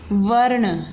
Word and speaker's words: वर्ण: लेकिन इसको प्रोनाउंस ऐसे नहीं करेंगे। जब हम इसे प्रोनाउंस करेंगे तो हम पहले बोलेंगे व, र, जमा, ण, ठीक है जी। वर्ण, ये लिखा है वर्ण।